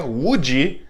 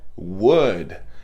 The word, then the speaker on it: would: Detalhe para a pronúncia, não é would, não é would, é would. É o mesmo som de madeira, would, would.